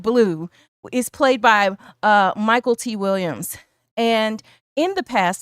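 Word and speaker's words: Mykelti: and it seems that his name is correctly pronounced Michael T so sorry if we said it wrong in the past but anyway Michael T Williamson is Bubba and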